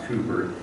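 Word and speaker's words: Cowper: name was William Cooper SP c w p r but he's pronounced Cooper in 1731 like Newton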